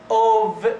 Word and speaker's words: of: This one is pronounced as of V, not if, of, one of you, one of you.